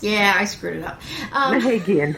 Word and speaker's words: Mehagian: me today Nancy, I already forgot how to pronounce it, Mehagian. Close. Yeah, I screwed it up. Mehagian. Mehagian.